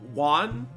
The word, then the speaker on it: Yuan: one you you were waiting for this one juan is that how you say her name yeah